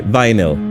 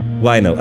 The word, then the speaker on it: vinyl: It's the one that sounds like I. Okay. Vinyl. Vinyl.